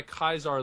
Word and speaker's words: Caesar: Yeah, as they should, because I think pronouncing him by Kaiser legitimizes his faction's culture. Ah, okay. So if they're your enemy, you don't want to legitimize their culture by calling him the proper Latin pronunciation, you know?